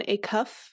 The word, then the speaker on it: Acuff: I am going to recommend the book Finish by John Acuff. I think that's how you say his name. Acuff, like a cuff link, but just Acuff.